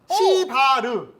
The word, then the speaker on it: 시발: 예, 여기를 잘 보시면 시바르. 아. 이게 발음이 딱 이렇게 돼 있습니다.